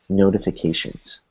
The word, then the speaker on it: notifications: notifications notifications same thing so we have first T in between two vowels an O and an I so notifications notifications notifications and what